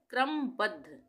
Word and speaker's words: क्रमबद्ध: क्रमबद्ध क में पतेन की मात्रा क का उच्चारण आधा र का पूरा क्र म क्रम बद्ध द में ये ध लगा हुआ है। यह आधा द है और ध पूरा है ये। तो यह बन गया क्रमबद्ध।